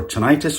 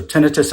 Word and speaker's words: tinnitus: disturbance, 22,000 years for tinnitus or tinnitus if you want to pronounce it that way, and 654,000 years for annoyance.